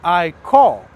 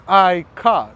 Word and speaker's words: iCaur: It's not iCaur, it's iCar. That's how it is pronounced.